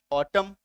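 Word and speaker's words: autumn: है एम है ना यही रूल का रहा है की किसी शब्द का आखिरी अक्षर एन हो और उसकी ठीक पहले एम हो तो उसे शब्द में एन का उच्चारण नहीं करना है मत करो ए यू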